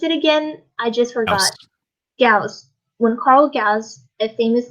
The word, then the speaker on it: Gauss: way that last name is gauss when you pronounce that last name it's gauss all right julia you should oh if you